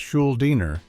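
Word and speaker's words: Schuldiner: Chuck Schuliner pronounced Schuliner was one of the inventors.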